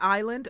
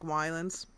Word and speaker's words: Ylands: you very much Joe it's pronounced like Island okay so I will say Island from rent from now on even though it looks to me like Weiland's okay so let's click